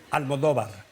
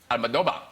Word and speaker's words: Almodóvar: So anyway, if you want to pronounce it like if you were Spanish so long, then it is Pedro. Yes, you said that. Pedro. Pedro. Yes. Almadoba. Almadoba.